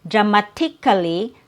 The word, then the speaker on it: dramatically: So instead of saying dramatically dramatically, there's no T sound.